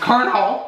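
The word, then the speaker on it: Colonel: did get the crispy kernel sandwich I still don't know why it's pronounced kernel it says : all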